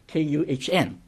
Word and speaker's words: Kuhn: Now, the most notable recent example is a book published by Robert Lawrence Kuhn, Kuhn, is that the right pronunciation? Kuhn. Right.